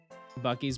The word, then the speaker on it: Buc-ee's: Buc-ee's, but the C's are pronounced like S's.